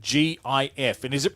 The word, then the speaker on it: GIF: because The Story Goes they pronounce it gif but the G stands for graphic so therefore it's a good yeah it's a hard G so he my natural enunciation would be GIF you could say because